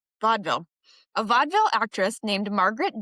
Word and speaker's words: vaudeville: How would you pronounce it? Vaudeville. Vaudeville.